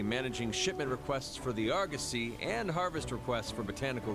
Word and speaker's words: Argosy: shipment requests for the Argosy and harvest requests for botanical research. It's pronounced Argosy? I've always pronounced it Argosy. Argosy. I have to change that.